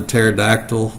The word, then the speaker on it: pterodactyl: And just like the winged dinosaur, the pterodactyl, the P is silent.